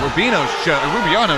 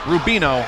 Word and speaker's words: Rubino: Single leg attempt, and Rubiano, you got me messed up on that name. He is just Rubino. I'm sorry, Rubino family. I've been saying his name wrong the whole time.